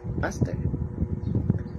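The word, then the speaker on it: ἀστήρ: shaped like a star the name astrovirus comes from the Greek word star pronounced aster now ah Dito naman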